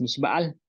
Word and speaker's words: mixba'al: Y para decir de nada, pues dices mishbal, mishbal, que significa de nada, que realmente mishbal es nada, pues nada.